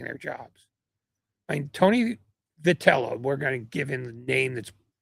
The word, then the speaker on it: Vitello: You say it's Vitello. It's Vitello. Or Vitello is really how you should pronounce it.